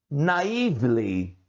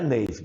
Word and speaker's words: naive: Mas eu, naively, você conhece naive? Não é navy. Navy é marinha ou navy blue, azul marinho. Naive é assim, você pronuncia da forma como se escreve.